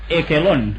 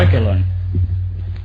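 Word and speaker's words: Echelon: Pero por si fuera poco, tenemos equelón o equelón. ¿Qué es eso? Se escribe echelón.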